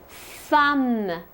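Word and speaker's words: femme: woman in French the word for woman is thumb and if you notice my mouth it has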